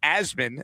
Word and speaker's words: Asman: Use the code asmin. That's as m an pronounced like jasmine with no j for 20% off your entire order.